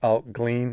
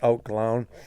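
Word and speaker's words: Allt Gleann: strength alt glown okay if you if you read it phonetically it's looks like out glean but it's out glown um so the out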